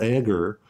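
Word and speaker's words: Agre: I think that this is actually about what Phil Agar, a great surveillance scholar, his name is spelled A-G-R-E, described as capture.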